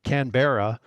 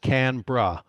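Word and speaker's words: Canberra: name it it's you would say it can canbera but the Australians pronounce it canra it's not Sydney's not the capital incidentally it's it's it's here and canra is where the where the college is so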